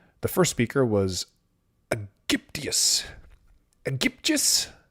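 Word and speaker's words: Aegyptius: Egyptius. Egyptus. Hard G, soft G. We shall soon find out. Egyptus. I think it's a soft G.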